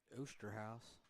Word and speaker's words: Oosterhouse: Zach Oosterhouse. Oosterhouse. You always had a couple situations where you've had a hard time saying some names. Yes, that is how you pronounce that one, though.